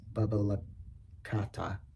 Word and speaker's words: BBL Cat: At one point, I was part of a group called BBL Cat, pronounced Bubba Kata.